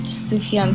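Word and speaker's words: Sufjan: it's so beautiful i looked it up it's pronounced tsuhyun stephen now i know ah and also it's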